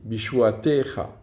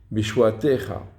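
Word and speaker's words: בִּישׁוּעָתֶךָ: Le premier, l'accent tonique, il est sur le T, bishuatecha. C'est miléel, puisque ce n'est pas sur la dernière syllabe, mais sur l'avant-dernière. Et comme on a dit, c'est sur la lettre qui est voyellée du ségol, bishuatecha.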